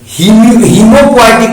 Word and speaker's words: हीमोपोएटिक: देखो होम्यो भी बोलते हैं तो गलती हो जाएगा, हीमोपोएटिक बोलिएगा, ध्यान रखिएगा। हम कुछ बच्चों को पढ़ते हुए देखे, इसलिए हम आपको होम्यो बोल के देखे कि बच्चा कुछ हो नहीं, हीमो।